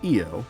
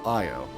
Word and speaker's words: Io: It's pronounced Io, like saying Isle. Alright, so Io.